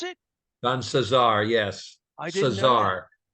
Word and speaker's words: Cesar: Cesar is how you pronounce it? Don Cesar, yes.